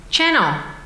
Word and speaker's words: chnnl: was to ask you how do I pronounce this Channel it's not spelled properly it's like people that have dessert first um she is the founder and director of Channel limited which is a